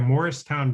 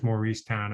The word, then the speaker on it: Mauricetown: is found by the Morristown Bridge, and that's spelled like Maurice, but it's pronounced Morris, as I learned when I was down there for the book and made the mistake of saying, "Where's Mauricetown?"